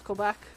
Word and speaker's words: Quebec: but you got Ontario I think you said Quebec a little bit wrong because it is French it's Quebec their capital is Quebec